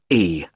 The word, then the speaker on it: Carlisle: 45 Carlisle Way. Could you spell Carlisle for me? Sorry. It's Carlisle. You don't pronounce the S.